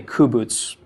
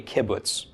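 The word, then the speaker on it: קובוץ: this is called a kubutz, or a kibbutz, I'm sorry. I keep calling it a kubutz because I want the first vowel to be right, but it is actually a kibbutz.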